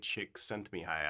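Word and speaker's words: Csikszentmihalyi: never pronounce his name it's mihai chick sent me high i think is how you say it and he recently passed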